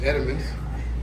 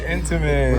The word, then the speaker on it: Entenmann's: We got them Edamons. Edamons. And then back here. What are Edamons? Over here. Oh, Edamons. I said it wrong. Got the Entenmann's When I was right little, I there.